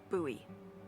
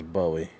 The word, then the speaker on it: Bowie: just messing with me like the city in Maryland that's how it's pronounced Buoy Maryland anyway which like maybe